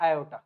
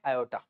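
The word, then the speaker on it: aorta: तरफ लेके जाता है इसको हम बोलते हैं आयोटा। क्या बोलते हैं हम इसको? आयोटा। या फिर बहुत सारे लोग इसको ऑर्टा भी बोलते हैं। इसकी स्पेलिंग होती है ये ए ओ आर टी ए ऑर्टा।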